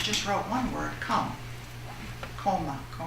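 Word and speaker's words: komme: Koma. If I'm pronouncing it right in German, K-O-M-M-E.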